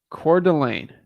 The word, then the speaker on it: Coeur d'Alene: to say it the right way core Delane Coeur d'Alene got it okay got it all right Coeur d'Alene Coeur d'Alene Coeur d'Alene all right sounds good